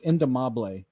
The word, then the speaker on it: indomable: yeah it's it's a it's a Spanish word it's indomable that's how you say yeah and this is